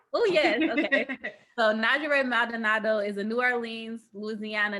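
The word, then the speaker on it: Njeri Maldonado: So Najere Maldonado is a New Orleans, Louisiana native who loves to spend time with friends and family while eating good food.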